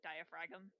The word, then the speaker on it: diaphragm: pH are AGM yes Oh you pronounce the G where's that supposed to be silent okay you sounded out the